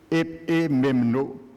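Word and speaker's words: ἐπιμένω: Paul emploie un terme grec, épiméno, Il se prononce Epimemno.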